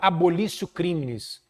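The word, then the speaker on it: abolitio criminis: mencionei na aula passada se escreve abolitio com T criminis com i é uma expressão em latim e se fala abolicio crimes Exatamente isso crimes é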